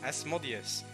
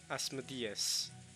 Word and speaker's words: Asmodeus: Asmodeus probably makes the most sense, though. Asmodeus. It is closer to the ancient Greek.